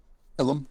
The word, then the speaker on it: Ilum: Ilum? It is Ilum.